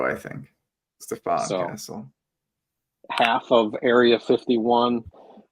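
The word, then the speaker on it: Stephon: don't know the proper I believe it's Stefan I think he goes yeah yeah yeah okay I think he goes Curry's thrown me off with all of like the different cadences of how to say this name yeah he wants us to annunciate the O I think Stefan Castle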